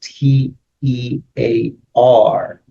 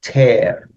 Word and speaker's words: tear: pull using force is tear not tear is t e a r and it's pronounced tear right it's written that you could pronounce it